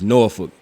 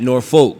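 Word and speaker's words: Norfolk: you say it right it's norol not North Folk right North Folk like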